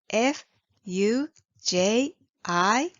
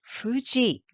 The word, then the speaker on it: Fuji: it's romance spelling is f u j i you might pronounce it Fuji but actually there is no F sound in Japanese language even though alphabet f is used to show this word so Japanese people call